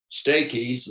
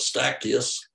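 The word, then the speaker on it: Stachys: some people call it steakies and some people call it staccus says either way you're correct and so i raised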